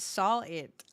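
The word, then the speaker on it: Sahwit: Oh, fun fact, his name is pronounced saw it.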